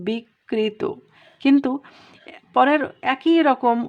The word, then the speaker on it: বিকৃত: একইভাবে দেখো বিকৃত, এখানে কয়ে রফলা রস্বীকার আছে, তাহলে এই যে মধ্যে রফলা এখানে ডাবল উচ্চারণ হলো বিকৃত।